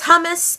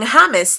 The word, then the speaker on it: hummus: Jason D, guys, says, how do you pronounce hummus and praline? I say it hummus and praline, but a lot of people say hummus and praline.